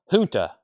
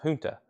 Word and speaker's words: Junta: uh and fish 125 Junta okay it's pronounced Junta not junta it's h instead of a j sound um and we'll do